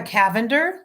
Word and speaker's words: Cavender: out my friend Rebecca Cavender, spelled like lavender with a C, Cavender, Rebecca Cavender writer on Instagram or Facebook.